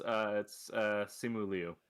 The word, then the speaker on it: Simu Liu: As when I played Shang-Chi, Yeah, it's Simu Liu.